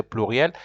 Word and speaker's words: pluriel: remember I told you how to pronounce plural in French you say pluriel and then singularize that